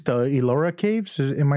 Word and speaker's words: Ellora: I think it's the Ellora Caves. Am I saying it right? Yes, Ellora Caves.